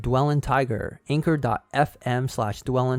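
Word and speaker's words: dwellyntiger: y n t i g e r that's pronounced dwell in tiger anchor dot fm slash dwell tiger and also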